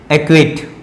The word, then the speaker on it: acquit: ठीक है, इस तरह से और भी मैं इक्विट की बात करता हूं, एक्विट, ACQUIT, एक्विट। ठीक है, एक्यूट, यानी सी लेटर यहां पे भी साइलेंट है।